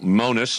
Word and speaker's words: Magnus: Yeah, so Monus is actually the correctation pronunciation, uh, from Denmark.